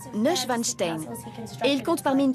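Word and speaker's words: Neuschwanstein: a débuté en 1869 son nom se prononce N vanstein et il compte parmi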